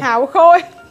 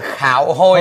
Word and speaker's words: Hạo Khôi: Hạo khôi. Hạo khôi. Mà nó đọc là khạo hôi.